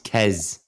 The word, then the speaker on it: Kez: So I followed Kess, and then, or Quace Butt, however, it's Kess, isn't it? That's how you pronounce it. It's Kez. Kez, is it Kez?